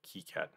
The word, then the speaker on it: KiCad: author John Pierre chus was French so he pronounced it Keat and the word key having no meaning uh